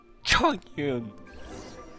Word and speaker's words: Chongyun: Chongyun. Diese Betonung auf Chong. Und dann Yun.